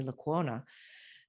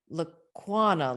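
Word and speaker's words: Lecuona: University of Iowa, Rainey Laquona. And I'm just making sure I said her last name right. She was always like Laquana, like iguana. So see, I didn't pronounce her last name right. Rainey Laquona.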